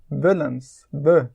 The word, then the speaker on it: Wullems: It's like Willems.